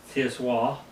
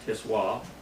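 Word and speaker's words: Tsiwah: Tiswa, T-S-I-W-A-H, is how you pronounce this, Tiswa.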